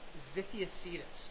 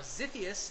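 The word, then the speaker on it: Xiphiactus: it the current name for this species is zius now it's spelled with an x x i p h i a c t u s now zius is actually the living species of uh swordfish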